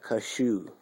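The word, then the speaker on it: Kashuk: Sonia Kashu. I think the K is silent because it's like Russian or...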